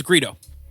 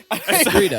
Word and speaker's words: Greedo: It's Greedo. I said it wrong. Oh wait, is it Gweet? Nope. It's that's Greedo. Greedo.